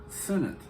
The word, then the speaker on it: Sennett: They've been just saying Senate comedy, and I've been trying to figure out how, why is it spelled with an S? And it was like, it's Mac Sennett, a comedian.